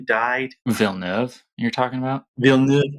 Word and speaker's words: Villeneuve: Villeneuve, how do you say that? Yeah, Villeneuve.